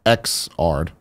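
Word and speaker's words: Xrd: still be there interesting he reaffirms that it's pronounced ex art see this is this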